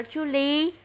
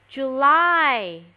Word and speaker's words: July: Đâu phải đọc là Julie. Julie là tên, the name of the dog. July, July. Nhớ chưa? Không phải Julie nha.